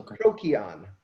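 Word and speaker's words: Procyon: say it but it's prokion here's a hint with pronunciations in latin there were no soft seas like ciabatta bread you wouldn't say that in latin latin c's were like k's so crookeon and that's canis minor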